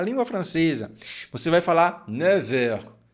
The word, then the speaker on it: neuf: Com relação a essa palavra aqui, ó, neuf, se for sozinha, você vai pronunciar neuf, com um som de F no final. Neuf, neuf. No entanto, quando a gente coloca aqui horas, vai ficar com som de V.